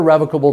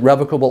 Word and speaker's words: revocable: sentence of what a revocable trust is by the way you can pronounce it revocable or revocable you actually look at the dictionary and you can do it either way this trust can be